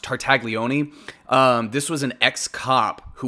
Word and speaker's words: Tartaglione: He was complaining that his cellmate at the time, I couldn't pronounce his name last time, but his last name is pronounced Tartaglione.